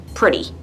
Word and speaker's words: pretty: And notice how I pronounce pretty like it's spelled with a D instead of a T, like pretty.